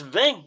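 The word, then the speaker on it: vingt: So the 20, pronounced vin in French, sounds like van when anglicized.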